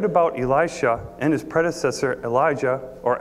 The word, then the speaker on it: Elijah: and John the Baptist I like to use a more break pronunciation of value just because Elijah sounds so much like Elisha to me and so here's some support for Elia being prophet of John